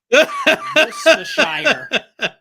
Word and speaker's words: Worcestershire: Or was it Worcestershire sauce?